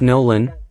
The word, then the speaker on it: Nolan: Nolan, pronounced Nolan, better known as Omni-Man and also known by